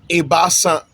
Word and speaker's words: Ebiasa: Please note that 3 is spelled Ebiasa, as you see on your screen, but with the Fante dialect pronunciation, we pronounce 3 Ebasa. So the pronunciation is different from the spelling.